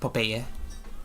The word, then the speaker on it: Popeye: and sorry I okay I don't really know how people in English pronounce papaya but I just pronounced it the way they taught me in Spanish what is it um it had the Sailor Popeye oh Popeye oh that's how you pronounce it in in English yeah chicken it's a